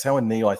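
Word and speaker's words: Tauaneai: mention her before, and I always have trouble pronouncing her name. Your lock, it's Alexis Tawanei. I always have trouble with that. Tawanei, thank you.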